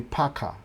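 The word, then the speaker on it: PACCAR: Peterbilt ni Packard. P-A-C-C-A-R. Kama Packard.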